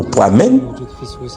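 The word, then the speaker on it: poimēn: dit le mot berger vient du grec poimen ou encore poimen dépendamment de gens prononcé là poimen poimen qui signifie celui qui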